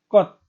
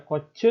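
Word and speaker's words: 꽃: Ko C, bukan, melainkan kot. Ya, jadi tidak dibaca kot. Tidak dibaca koce, melainkan kot.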